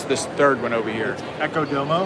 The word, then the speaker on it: Echo Domo: Echo Domo. Echo Domo. So the backwards D is irrelevant. It is. It's So It's silent.